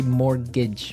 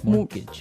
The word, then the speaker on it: mortgage: Yeah, it has a T in it, but you don't pronounce it. You say mortgage. Mortgage.